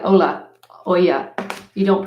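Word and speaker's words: olla: about and they are spelled oh look like Ola oh yeah you don't pronounce the elves anyway if you just fill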